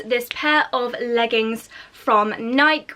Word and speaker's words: Nike: pair of leggings from Nike or Nike let me know how you pronounce it down below I think I usually say Nike I'm pretty sure that's the correct terminology these leggings you may